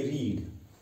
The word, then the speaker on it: read: देखिए रीड, रीड जो यहां पे वर्ब है इसकी जो सेकंड फॉर्म है वो आएगा रेड। देखिए स्पेलिंग सेम है मगर प्रोनाउंसिएशन में इसको हम क्या पढ़ते हैं, रेड, ठीक है।